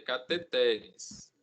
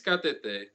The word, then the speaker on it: cateter: é cateter ele sair cateteres o viciosamente a gente chama de cateter mas a pronúncia correta cateter define-se cateté como instrumento oco ao